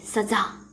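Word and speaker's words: सज़ा: ध्यान से यहाँ पे देखिए, ज के नीचे नुक्ता लगा है तो इसका उच्चारण किस तरह से करेंगे? सजा, सजा अर्थात दंड।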